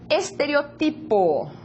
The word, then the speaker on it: estereotipo: Estereotipo. Estereotipo. Observa la tónica de la palavra diferente también de la lengua portuguesa.